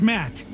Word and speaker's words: Matt: not an inch less the name's matt the second t is silent okay matt i'm gonna